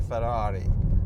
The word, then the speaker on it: Ferrari: It's always been my dream to drive a Ferrari, or a Ferrari, if I want to say it properly.